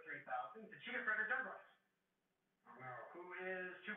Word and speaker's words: Douglass: We only got half of the second S, but that's okay because either way it's pronounced Douglas.